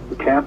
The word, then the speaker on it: Qi: all they got to remember is It's a cap qi It's pronounced c but She is the International standard